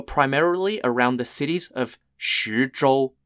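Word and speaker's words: 徐州: the Battlegrounds were primarily around the cities of shujol spelled x-u-z-h-o-u and boom boom spelled b-e-n-g-b-u the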